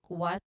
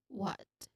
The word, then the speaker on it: what: Now the pronunciation tip here, it should involve a short O sound. I know, not O, but like Yeah. Oh, oh, something like that. Yes. Short O sound as in hot and clear T sound at the end like T.